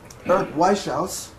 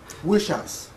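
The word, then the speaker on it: Wieschaus: Um Eric Waus is that correct? No, he will correct me when I uh um Wish House. Wish house, Eric Wish House, uh who is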